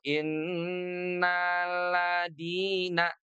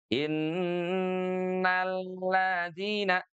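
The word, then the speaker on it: إن الذين: Jadi dari nanya ini jangan sampai lamnya tidak kerasa gitu ya. Tidak innalladina tapi ada juga yang bacanya tuh innalladina gitu. Seakan-akan lamnya ini tidak bertanda tasdid ya. Jadi pastikan numbernya di sini ini kerasa banget gitu ya. Innalladzina tuh.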